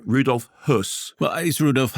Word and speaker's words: Höss: fine so Christian fredel plays and correct my pronunciation Rudolph hus well is Rudolph H yes because it's it's